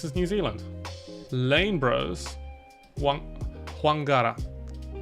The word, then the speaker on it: Whangara: Whangara. Or Fangara, I believe people even pronounce it. Oh, pho? It's not like pho, it's like pho, the bilabial fricative.